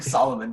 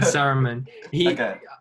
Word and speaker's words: Saruman: I kept writing Solomon because I didn't know how to pronounce his actual name. Yeah, Saruman.